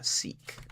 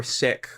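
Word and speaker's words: Sikh: let's say you have someone who is uh seek or sick or however how however you pronounce that particular religion right um I'm going to go with seek because that's what I always hear and uh the people locally to me um who are generally pronounce it as seek.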